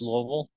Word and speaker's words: Louisville: Uh, to say it right, you just need to drop all of the vowels out of it. So, it's just Louisville. So, it just sounds like it's a mouthful of marbles.